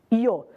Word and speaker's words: yo: frase o eu em espanhol corresponde ao nosso Yo alguém deve ter pensado aí Opa mas espera